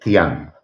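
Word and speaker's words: Dzyan: El libro se llama Los misterios de Tian. Y te lo cuento porque es muy elocuente. ¿Cómo se escribe Tian?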